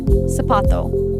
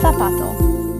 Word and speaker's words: zapato: actual sound of Spanish, the accents and the pronunciation. Let's take the word for shoe, zapato. Listen closely. In Latin America, you'll hear sapato.